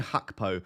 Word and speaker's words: Gakpo: Do you mean Hakpo? I'm not going to try and do the Dutch pronunciation. I'm going to call him Gakpo.